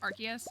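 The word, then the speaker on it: Arceus: like in adjacency to archus so I think arus sounds better but I uh have been forcing myself for three years to say archus to do that I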